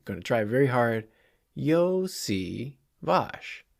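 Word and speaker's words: Iosivas: number 80 Andre yoshivash say it with me yo C vosh Yoshi wash I know I was like 50 50 on getting the pronunciation correct last episode so I'm going to try very hard yo SI vosh it's not that hard okay uh we also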